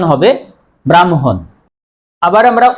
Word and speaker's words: ব্রাহ্মণ: আমরা অনেকেই এই শব্দটির উচ্চারণ ব্রাহ্মণ করি। আসলেই শুদ্ধ উচ্চারণ হবে ব্রাহ্মণ।